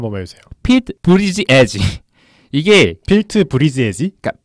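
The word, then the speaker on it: Buttigieg: 갑자기 그게 아니고 발음이 실제로 어려워요. 다시 한 번만 해주세요. 피트 브리지 에지.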